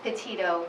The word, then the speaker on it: Petito: Can you pronounce her last name for us? Sure, it's Petito, P-E-T-I-T-O.